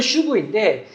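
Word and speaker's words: שוב: 발음은 슈브인데 이게 구약 성경에서 정말 많이 나오는 단어예요.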